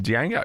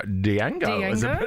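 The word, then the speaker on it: Django: guys he was in Dango Dango Dango was a bad guy that's how I pronounce it when he eats the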